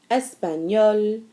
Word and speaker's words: espagnol: anglaise, allemande, mexicaine, irlandaise, espagnole, japonaise, chinoise. Now the only sound that didn't change was espagnol because we're already pronouncing the L.